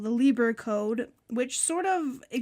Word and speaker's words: Lieber: pronounced He was a German It's immigrant. I-E, then it's Lee, then it's Lieber.